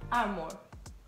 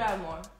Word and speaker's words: Under Armour: Under Armour. Agora é você. Under Armour.